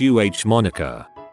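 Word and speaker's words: Amonica: Girl didn't want the baby to have a common name, so put an A at the front of the name, making it a Monica, pronounced UH Monica.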